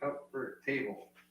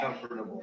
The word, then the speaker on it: comfortable: Well, it looks like comfort table. It's comfortable.